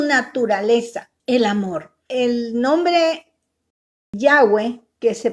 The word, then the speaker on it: Yahweh: Vimos el nombre propio de Dios, que es Jehová, como lo pronunciamos nosotros en el idioma español. En el idioma hebreo es Yahweh o Yahweh, como dicen algunos.